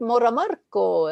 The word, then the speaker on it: Moramarco: And you pronounced my name right. Right on. It is Italian.